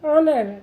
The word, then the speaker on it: honor: तो इस तरीके से हमें जब एच हमारा साइलेंट होगा और हमारा जो साउंड है वो वॉवल के जैसा होगा तो हमें वहाँ पर एन का यूज़ करना है।